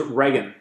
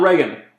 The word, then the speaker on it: Reagan: oh and also he said uh it was rean rean who he cut school school budgets a